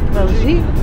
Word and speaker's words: Belgique: Belgique.